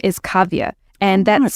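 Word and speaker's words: Kavya: my my actual name my legal name is cavia and that's spelled k a v y a which for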